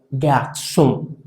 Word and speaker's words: garçon: Por ejemplo, aquí esta palabra se pronunciaría garçon. Garçon. Es como si de alguna manera detuviéramos el sonido de esa N nasalmente.